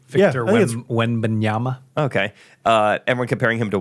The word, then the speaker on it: Wembanyama: Victor I think it's- Wembanyama.